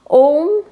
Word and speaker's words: ओम: Okay ओम की pronunciation में सिर्फ इतनी सी बात है कि ओम को प्रोनाउंस करने के लिए कोई हमारा जीभ या तालू टकरा नहीं रहा, जैसे कि हम किसी और शब्द को बोलने के लिए इस्तेमाल करते हैं।